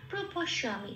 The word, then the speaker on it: প্রপশ্যামি: জকে অন্তস্থ জকে সংস্কৃততে ইয়া উচ্চারণ করে, হস্যই প্লাস অন্তস্থ।